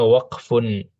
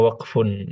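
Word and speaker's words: وقف: Itu bacanya waqfun. Oh, di kursi ya Ustadz, di kursi. Itu bacanya waqfun.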